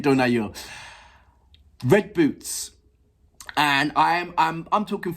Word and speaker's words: Дунаю: Definitely pronounced differently in English. So I'm going for the Ukraine way. Dunayu, Dunayu.